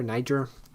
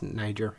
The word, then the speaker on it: Niger: If you don't know about Madhu Mokhtar, he is a guitarist slash singer-songwriter from Niger. Niger. That's French. I think it's Niger in English.